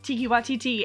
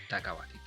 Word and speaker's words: Taika Waititi: He went up behind Tiki Waititi and like pretended Taika Waititi, whatever. I always say it wrong. Taika Waititi. But he went up behind